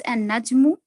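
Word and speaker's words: النجم: Al-Najmu becomes an Najmu, Al-Rajulu becomes Al-Rajulu, Al-Dikku becomes Ad-Dikku, Al-Samaku becomes As-Samaku.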